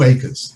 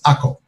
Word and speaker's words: Akko: that there were two acres, the acre above and the acre below. And I'm saying acre, but the proper pronunciation in Israel of this city is Akko. The Crusaders called it Acre.